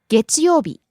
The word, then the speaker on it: 月曜日: 何曜日 Next we have 月曜日 Monday. 月曜日月曜日 Rising on the second syllable, falling on the second to last syllable.